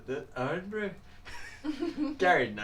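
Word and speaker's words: Irn-Bru: No, it's like IRN. Yeah. Like urn brew. It's Scottish. But I think that's how the urn brew.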